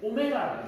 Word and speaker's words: 오메가: 표시는 우리가 이렇게 W 좀 되는데 발음은 이 W가 안 읽거든. 이름이 있거든. 오메가라고 읽어줍니다. 오메가는 헷갈리는 사람들에다가 글자에다가 오메가 적어놔라. W라 읽지 마세요, 제발.